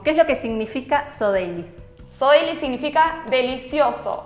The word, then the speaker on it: Så Deilig: Bueno, tenemos en las redes sociales, nos pueden encontrar como Sodeily, pero se escribe Sodeily, uh-huh, ¿sí?